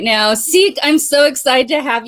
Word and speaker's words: Siike: It's pronounced Siike. Yeah, Siike. Yep. Yeah, with an S, like hide and go seek.